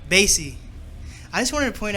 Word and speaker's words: Bassy: Bassy.